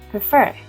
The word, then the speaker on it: prefer: For example, in the verb prefer, since the last syllable fer is stressed, we double the consonant r plus ed, preferred.